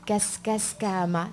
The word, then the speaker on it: Kaskaskama: Et celui-là, voilà, son nom c'est Kaskaskama. C'est un peu dur à prononcer. Mais il faut penser à Cascas Nicolas, Cascas Nicolas.